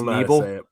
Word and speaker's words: Knebel: We got Corey Knebel, yeah, just Knebel, like with a silent K.